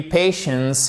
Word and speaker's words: patients: Et c'est pas patients or patients, non. Patients. Vous avez une diphtongue ici et votre accent tonique sur la première syllabe.